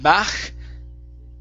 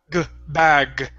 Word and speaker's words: bag: So instead of bach, all right, this is bag. Bag. One more time, bag. Bag. Okay, give me that G like you're saying goal.